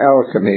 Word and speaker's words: alchemy: it today, originated, but the present word is derived from two comparatively recent terms, the word chemistry and the ancient Hebrew and Greek and Egyptian syllable El. Alchemy. El is a name of deity, Elohim, and many others.